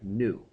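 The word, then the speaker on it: ν: second and that's represented by the Greek letter new nuu there's the pronunciation and it's kind of a fancy V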